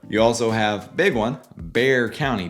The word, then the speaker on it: Bexar: You also have, big one, Bexar County. Bexar is Bexar County. Don't get that confused either. It's not Bexar.